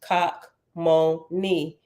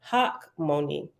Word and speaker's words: Hachmoni: Kakmoni means wise and is pronounced Kakmoni in Hebrew. In English, we typically pronounce it Hakmoni.